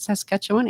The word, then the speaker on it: Saskatchewan: In fact, I interviewed a lady from Saskatchewan. Is that how you pronounce it? Saskatchewan in Canada.